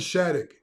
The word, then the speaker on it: Schadegg: such and uh come along and find Rylan Shattuck did I say it right yes sir and